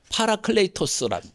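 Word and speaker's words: παράκλητος: 성경에는 여러 가지 이름 중에 하나가 보혜사인데, 이 말은 히라보로 파라클레이토스란, 영어식 발음으로는 페라클리트, 한자로는 보혜사라고 해서 보존할 보자, 은혜 해자, 스승사, 가르칠 사자입니다.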